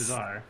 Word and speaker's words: Tchazzar: It's spelt Tchazzar because all dragons are called that. Like Charizard. Yes, Chazar. Exactly, Chazar.